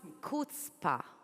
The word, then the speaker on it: chutzpah: thank you let's start from the beginning what's kPa if I said it right of course yes you did HPA is a word in Hebrew but actually in